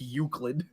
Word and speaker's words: Euclid: introduced the man to it I couldn't pronounce Euclid I thought it was like yeah it was I think yeah it was you silent how do you say this you sell it Dylan it's Euclid I'm like oh now I used to I